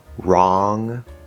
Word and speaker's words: wrong: One is before the R sound at the start of a word or a syllable. For example, wrong, rap, right.